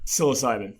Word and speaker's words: psilocybin: How do you pronounce that? Psilocybin.